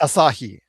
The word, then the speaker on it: Asahi: You have all of of the um uh CyberAgent and and TV How How's that pronounced? Asahi.